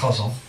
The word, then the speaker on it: ghazal: It's actually pronounced ghazal.